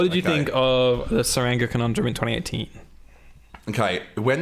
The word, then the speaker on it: Tsuranga: Tsuranga Conundrum came out. How do you say feelings? Tsuranga Conundrum. Basically a silent T.